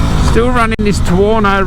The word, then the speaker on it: Tuono: still running this tawano rhymes with porno in and i'm loving